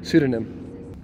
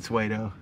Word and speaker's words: pseudonym: Pseudonym, right? Yeah. I don't like that camera angle. Will said Suedo.